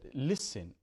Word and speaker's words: listen: listen to the stress if I said listen listen I'm stressing the first syllable in here if I'm